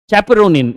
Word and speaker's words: chaperonin: Chaperonin, you can pronounce it as caperonin as well.